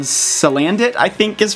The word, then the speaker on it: Salandit: After all that, they revealed another new Pokemon called Salandit, I think is pronounced, who is a poison fire type with